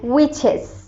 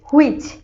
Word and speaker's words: which: আমরা সাধারণত উচ্চারণ করি হুইচ, কিন্তু এখানে এইচ এর সাউন্ডটা খুবই কম আসবে। উইচ, ঠিক এই সাউন্ডটাই হবে।